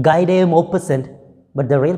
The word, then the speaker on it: Guy de Maupassant: of HORLA, written by Guy de Maupassant. Right, he's a French writer, French short story writer, and when you read it by its spelling, you may read it Guy de Maupassant, but the real pronunciation is Guy de Maupassant.